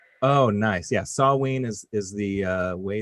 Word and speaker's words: Samhain: phobia or sawenaphobia samhain samhain is actually produced pronounced sawween oh nice yeah sawween is is the uh way that you excellent